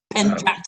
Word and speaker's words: Pentjak: And that, and the way you pronounce it is ch something. And then the guy says that you spell it TJ, right? And Joe is like, ch, what kind of spelling is that? And I'm thinking, if Joe knew about the Dutch-Indonesian Pentjak Silat, he would know, right? He would know right away.